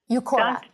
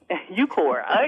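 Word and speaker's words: Uqora: UCORA. UCORA. UCORA. UCORA.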